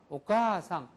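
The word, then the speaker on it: お母さん: 박은 항상 같아야지 되는 같은 박으로 오가상 그죠? 가까지가 같은 포즈로 한 바을 더 끌어 주는 것뿐이지. 옥가상 말 모든 박은 일본어는 동일하게 나온다는 거예. 그래서 오가상 오바상 오바상은 할머니라는 뜻이죠. 오바상 오바상 오가상 오가상 오카 할 때 오카라고 하는게 왜음플스 아음이냐라고 하는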